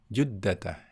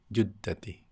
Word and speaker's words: جدة: Ketika majrur, tanda majrurnya adalah fathah, bukan kasrah, ya. Fi juddata, ya, bukan fi juddati.